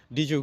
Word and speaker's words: did you: যখন কোন ইংরেজি শব্দের শেষের বর্ণটি ডি থাকে এবং তার পরের শব্দের প্রথম বর্ণটি ওয়াই থাকে। তখন এই ডি এবং ওয়াই মিলে উচ্চারণটা অনেক সময় জ্ব এর মত হয়ে যায়। যেমনটা বলেছিলাম ডিড ইউ গো। এটাকে ইংরেজরা বলে ডিউ গো অথবা ডিজে গো ডিউ অথবা ডিজে গো